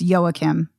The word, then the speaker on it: Joachim: I am not even going to attempt to pronounce these names, except maybe the director is Joachim Trier. Does that sound right? It's Joachim. Well, because it's Norwegian, so of course.